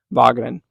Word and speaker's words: Wageningen: So, within the Netherlands, there is this university called Wageningen University, or as I like to pronounce it to my American audience, Wageningen.